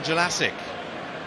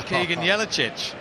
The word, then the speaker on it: Jelacic: Keegan Jelacic, the footballer formerly known as Keegan Jelicic. But thanks to a series of pronunciation guides, we have it from the horse's mouth, the correct pronunciation. The former Perth and Brisbane Roar winger, Australian and New Zealand Youth International, would like to be known as Jelacic.